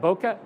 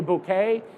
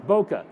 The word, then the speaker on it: bokeh: are we chasing B how do you pronounce that boka b people say bouquet no it's bokeh okay all right the